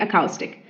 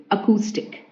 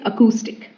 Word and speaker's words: acoustic: word is acoustic acoustic I also used to say it acoustic but it is acoustic acoustic okay it's acoustic it's not acoustic it's acoustic okay meaning relating to